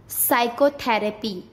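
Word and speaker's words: psychotherapy: पी कब silent होता है? जब एस से पहले पी आता है तब पी साइलेंट हो जाता है। किससे पहले? एस से पहले। जैसे साइकोलॉजी, साइकेस्ट्रिस्ट, साइकोथेरेपी, एस से पहले पी, साइकोथेरेपी। QRS, ये भी बात नहीं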